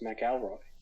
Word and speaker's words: McElroy: that's not it though it's not McIlroy it's Mac Elroy McElroy is it correct which with the c is with the second syllable yeah Mikhail Roy it's like ma Cowboy basically like MO is the first one interesting I guess